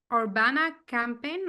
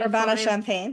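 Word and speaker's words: Urbana-Champaign: He earned this degree from the University of Illinois at Orbana Campaign. Am I saying it right? Sorry. Orana Champagne. Yeah.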